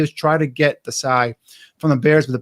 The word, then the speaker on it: Desai: I think that's how he pronounces it, Desai.